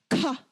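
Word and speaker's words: ཁ: You see how the paper flutters really hard there? Ka, ka. Yeah, it is really hard, right? So that is our Papa Bear. That is ka. That is too hard. Harder than the K in English.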